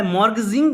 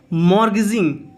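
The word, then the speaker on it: mortgaging: We borrowed a part of the amount by मॉर्गेजिंग the house. Guys मॉर्गेज का मतलब होता है कि गिरवी रखना। यहाँ पे टी साइलेंट रहेगा, इसको आप प्रोनाउंसिएशन पे ध्यान दीजिएगा। यहाँ पे इसको आप बोलोगे मॉर्गेजिंग। मॉर्गेजिंग।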